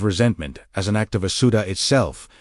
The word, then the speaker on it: Asuta: The Aramaic discipline of speaking Asuta, pronounced ah-soo-tah, not as a request sent outward, but as a recognition spoken from the interior.